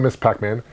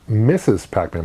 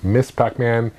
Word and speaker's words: Ms. Pac-Man: But Miss Pac-Man, go to Miss Pac-Man. Not Mrs. Pac-Man, by the way. A lot of people mispronounce it as Mrs. Pac-Man. No, it's Miss Pac-Man.